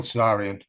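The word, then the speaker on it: Tsarion: end this I was listening to to Michael cesarian uh interview and I can't recommend this stuff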